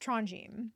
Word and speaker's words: Tronjheim: In the audio book in Audible, it is pronounced Tronim.